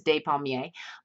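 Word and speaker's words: Despommier: and by the way they do mispronounce his name it is day Pommier but it's okay and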